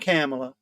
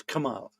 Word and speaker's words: Kamala: It's not Kamala. It's Kamala. Kamala. You got it right? Kamala. Kamala. It is Kamala, isn't it? I said it wrong. It is hard to say, apparently.